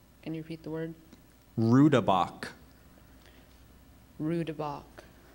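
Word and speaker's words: roodebok: i s t i c narcissistic that's correct rabach may I have the language of origin this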